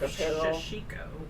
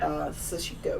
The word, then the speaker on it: Sashiko: a whole room of shishiko. Oh. So I thought of you. That's fancy. Which my father, like me, cannot say words. He keeps mispronouncing it. Sashiko, which means little stabs.